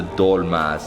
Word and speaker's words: dolma: And then we have the dolmas, and these are called dolomos, or how do you say them?